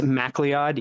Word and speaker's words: MacLeod: It's MacLeod. Yeah, it's McLeod. Really? Oh, I've always I had pronounced no it idea.